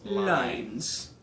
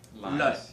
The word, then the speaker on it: loins: The word loins, L-O-I-N-S, would originally have been pronounced the same as Lines. It'd be pronounced like Lines.